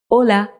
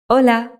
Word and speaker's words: hola: be familiar with it it's pronounced as hola I'll repeat again hola now there's another thing